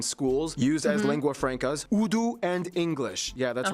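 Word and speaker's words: Urdu: Udu and English. Yeah, that's right. It's pronounced udu, not for reference.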